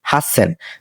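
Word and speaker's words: 八千: এটা আমরা উচ্চারণ করি হাসেন তো হাসেন মানে কি হাসেন মানে হল 8000 তো এটা আপনারা মার্ক করে রাখতে পারেন যে এটা ব্যতিক্রম তারপর হচ্ছে কিউসেন কিউ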